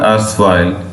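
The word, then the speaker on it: otherwise: और ये दूसरा जो वर्ड है वो है अर्सवाइल। अर्सवाइल का मतलब होता है आर जो है उसे बेटा साइलेंट करके बोलना आपने, इसका मतलब होता है साबका।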